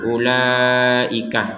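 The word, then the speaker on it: أُولَٰئِكَ: Jangan dibaca ula, salah itu. Jadi langsung ke la, la-nya di sini ada harokat bendera, kita panjangkan 4 sampai 5 harokat. Ulaika ala hudam mir rabbihim.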